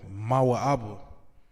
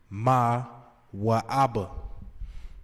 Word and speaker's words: Moab: So now you got Moab, Mawa'aba. That's how you would pronounce that in the Hebrew. Mawa'aba.